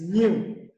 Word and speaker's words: knew: Now, the next one on the list is new. Now, the first one is spelled K-N-E-W.